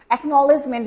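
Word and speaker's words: acknowledgement: যেটাকে আমরা বলে থাকি একনলেজমেন্ট ভেঙ্গে ভেঙে চেষ্টা করবেন একনলেজমেন্ট ভেঙ্গে ভেঙ্গে এসি এই এসি এরপর আছে নলেজ কে এন ওডবউ এলইডি নলেজ আর এরপরে হচ্ছে স্যার মেন্ট একনলেজমেন্ট ওকে প্রাপ্তি স্বীকার একনলেজমেন্ট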